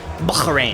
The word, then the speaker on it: Bahrain: I've been pronouncing it wrong. Bahrain.